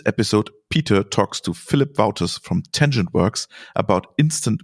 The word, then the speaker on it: Wauters: hello there I'm sitting here with Phillip philli wouters that's I believe the right pronunciation Philip right that's right from tangent work